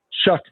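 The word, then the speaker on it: Shough: Is it Schla? Shuck. Shuck. Shuck. Shook.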